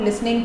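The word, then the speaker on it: listening: वाई आर यू नॉट लिसनिंग टू मी, टी इसमें silent है.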